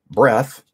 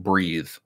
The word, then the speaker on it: Breath: I just recently finished Breath. I mispronounced it Breathe during my last podcast.